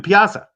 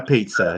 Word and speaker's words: piazza: The piazza. The piazza. Okay. I thought I might have heard a piazza in there a little bit, sort of like not a pizza.